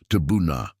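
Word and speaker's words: תבונה: The word is pronounced tabuna.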